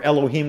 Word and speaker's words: Elohim: value of 86 is elokim god or elohim would be the way you say it properly aleph is one laminate is 30.